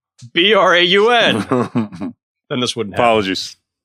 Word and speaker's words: Braun: This is why it should be pronounced Braun, Braun.